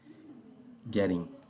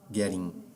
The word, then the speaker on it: getting: To get, get, gets, getting. Ó, aqui, esse fonema aqui, de dois T's, esses dois T's aqui, ele fica assim, com som de R. Getting, getting, tá bom?